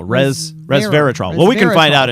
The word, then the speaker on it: resveratrol: My brain always wants to see it as reserve, but it is not reserve. No, resveratrol.